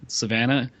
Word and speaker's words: Savannah: And uh Savannah, it rhymes with banana.